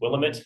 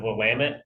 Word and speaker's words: Willamette: My mom to this day still says Willamette instead of Willamette, and I think that's what Siri says too. If you say, take me to the Willamette River, she'll map you to the Willamette.